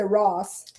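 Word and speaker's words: rass: name better everyone because in Belize Ross but it's spelled r-a-s-s when we say Ross Ross means ass and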